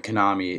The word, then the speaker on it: Konami: And since, Konami, yeah, let's say it properly, Konami is a Japanese company as well as Square Enix, it makes me think maybe Snake could possibly be announced.